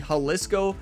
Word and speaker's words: Jalisco: number one of the Haliscoco Championship. And I know you all might be wondering, I thought it's Disco Championship. I thought so, too. But Google said it was the Haliscoco Championship.